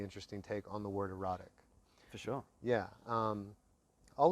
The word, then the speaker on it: EROTIKK: name beautiful so the the brand name is erotic which is spelled e-r-o-t-i-k-k right that's a norwegian word for